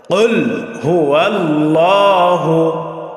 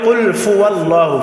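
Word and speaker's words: قُلْ هُوَ اللَّهُ: করে তারপরে পড়বো ইনশাল্লাহ সকলে আমার সাথে সাথে বলেন কুল হুয়াল্লাহু ওটাকে আবার বলি কুলফু আল্লাহু ফু হবে না কি হবে আহাদের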